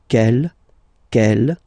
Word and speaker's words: quelle: And the good news is that you will pronounce them the same way. Alright, so quel, quelle, quel, and quelle.